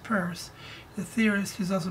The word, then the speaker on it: Peirce: Now the other fellow, Charles Sanders Peirce, pronounced Peirce, the theorist, he's also a mathematician, he's a language, he's a genius.